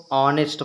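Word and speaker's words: honest: आपको ध्यान देना है नेस्ट लिखा है लेकिन इसको ऑनेस्ट पढ़ते हैं क्योंकि एच यहां पर साइलेंट रहता है हनी हनी माने होता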